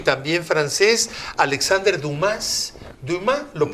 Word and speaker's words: Dumas: Bueno, mira, entre los 100 que hay, podemos hablar, bueno, de otro novelista muy famoso y también francés, Alexandre Dumas, lo pronuncian en francés, que tampoco vino, el de los Tres Mosqueteros, claro.